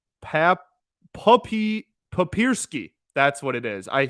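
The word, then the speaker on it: Papierski: and I I think I'm right Pap puppy papersky that's what it is I found the phonetic pronunciation right here in front of me and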